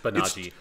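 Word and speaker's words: Banagher: We're going with, like, a rough approximation of the Japanese pronunciation for just Banaji.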